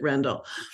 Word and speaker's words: Rendell: I'm recommending is Ruth rendell's simisola I'm recommending Randall and I will probably say Rendell because that's what it was in my head for 30 years but I believe she pronounced it Randall the reason I'm recommending